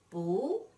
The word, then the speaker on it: 不: However, when you combine the negative word 不 with another fourth tone word, 不 becomes the second tone, 不.